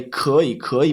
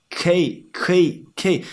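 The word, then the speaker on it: 可以: And then many foreigners just blend the 2 words. So it would be like 可以. And also, they don't like to say 可以, so they say 可以.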